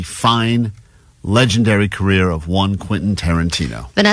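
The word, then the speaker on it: Quentin Tarantino: She's been saying quasa quaintonqana. So quinta nana.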